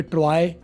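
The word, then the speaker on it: Troy: ट्रॉय के बारे में बताया था टी आर ओ वाई। आप हमारे यहां जो जुगाड़ है स्पेलिंग का उसके हिसाब से आप बोलोगे तो आप बोलोगे ट्रॉय या जैसे बॉय बोलते हो या ट्रॉ टॉय बोलते हो।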